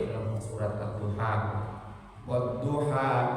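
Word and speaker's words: والضحى: Wad-duha, kita bacanya ha, bukan he, bukan he, bukan a. Wad-duha, a. Tidak boleh dibaca wad-duhi wal-laili idza saji, karena itu bukan kita.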